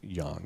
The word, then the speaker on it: yang: It's yang is how you pronounce it.